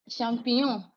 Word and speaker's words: champignon: The GN, what's the sound again, please? The GN, please. Nyon. Nyon. Nyon. Okay. Nyon. Something like Champignon. champignon. Oui. Champignon. Okay. Mm-hmm. More like an N and Y. N and Y together.